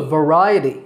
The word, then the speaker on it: variety: that we include a variety of fruits and vegetables in our diet did you notice how I said that word its variety but right a tea